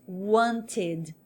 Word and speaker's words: wanted: No inglês mais norte-americano, esse T vai dar uma aliviada e a pronúncia vai ficar wanted.